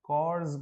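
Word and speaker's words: corps: NCC full form होती है national cadet कॉर्स, पढ़ा जाता है, एक बार चेक कीजिएगा, पी यहाँ पर साइलेंट है, कॉर्स इसका प्रोनाउंसिएशन है।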